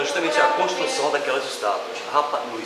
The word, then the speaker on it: Rapa Nui: Rapa Nui, são duas palavras. Rapa Nui. Rapa Nui, como se escreve, se pronuncia.